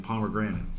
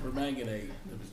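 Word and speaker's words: permanganate: Yeah, I'm all over this potassium pomegranate. Oh, perang. Believe that's pronounced per manganade.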